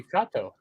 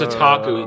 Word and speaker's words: otaku: Yukata. No, it's otaku. It's spelled backwards.